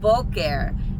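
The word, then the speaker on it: בוקר: And so we have this word which is bulker. And now of course we put the stress on the second to last syllable which in this case is the first syllable.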